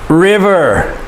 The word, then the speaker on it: river: vowel is a consonant, and so therefore the I makes the short sound, I. And ER, we know, makes the sound. River, river.